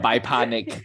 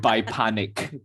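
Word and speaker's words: Bypanik: by Panic layer um the biponic spelling Titanic pirate layer but it's spelled b-y-p-a-n-i-k it is how it's spelled the biponic pronounce it a bit different not quite I'm so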